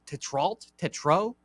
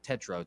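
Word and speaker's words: Tetreault: Freed, one of my favorite lefties on the bump, obviously, versus Jackson Tetro. Apparently, that's how you say it. Tetro. I'm gonna go with Tetro today here.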